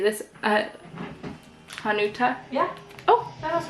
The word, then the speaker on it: Hanuta: this guy how do you say this uh hanuta yeah oh that was right oh cool okay